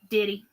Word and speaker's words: Daddy: always been Daddy or Diddy. I call him daddy. Yeah. I just say my Daddy. D-I-D-D-Y is what it's D-A-D-D-Y is how it's spelled, but that's not how I say it.